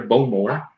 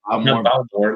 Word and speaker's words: Bowmore: And Greg's been, he said Cole Isla 12, the Bowmore, I think that's how they say it over there, Bowmore. But not Bowmore, like we would say here.